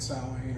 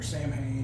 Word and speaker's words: Samhain: then his second band, Samhain, or Samhain, however you want to pronounce it, I was even a